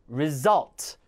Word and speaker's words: result: 이게 만약에 여러분 발음할 때 resort가 아니라 result 뒤에 강세 주고 어로 발음해야 됩니다.